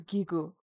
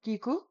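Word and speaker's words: གི་གུ: But this vowel is gigu, and it's pronounced e, e, I want to note these pronunciations are based on the Central and Lhasa dialect.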